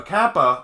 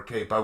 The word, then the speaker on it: kappa: a um a kappa a kappa or capo whichever way you want to pronounce it um a cape a